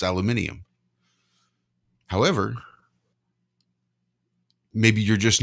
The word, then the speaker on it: aluminium: what you are saying you are pronouncing that word exactly correctly that is exactly how you pronounce aluminium however maybe you're just